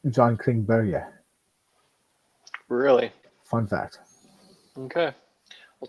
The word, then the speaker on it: Klingberg: It's actually more pronounced of a Berge, like John Klingberg.